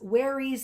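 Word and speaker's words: wherries: ferry boats and warys werries that rhymes with berries that's how it's spelled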